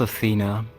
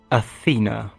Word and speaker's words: Athena: Well, my name is Athena, and I am the sister of the boss. Her name is Calypso. For bulletproof glass. Zafina. Am I pronouncing that right? Bulletproof. Athena, like the Athena.